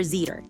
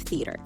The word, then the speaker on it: theater: But most people either say sink instead of think or zeter instead of theater.